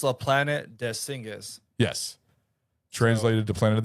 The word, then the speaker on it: La Planète des Singes: So, the French version, the E is silent, so it's La Planète des Singes.